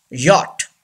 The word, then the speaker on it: yacht: We don't pronounce ch. Yacht.